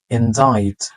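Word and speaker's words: indict: এটা দেখে মনে হতে পারে যে ইন্ডিক্ট কিন্তু ইন্ডিক্ট না ইনডাইট ইনডাইট প্রিভেসি প্রিভেসি ব্রিটিশ এক্সেন্টে এটাকে বলা হয়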